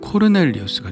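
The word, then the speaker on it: Cornelius: 고넬리오는 이탈리아 반도의 중부 지역에서 파견된 군대의 백부장이라고 볼 수 있는데 로마인이고 원래 발음으로 하면 코르넬리우스가 되겠죠.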